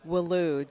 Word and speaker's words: Welu: How do you say it? Welu, W-E-L-U.